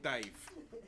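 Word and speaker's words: Dàimh: Yeah, it's pronounced like dive.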